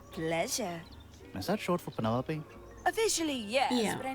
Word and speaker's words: Penelope: Is that short for Penelope? Officially, yes, Yeah. but I never can be bothered with all 4 syllables of it.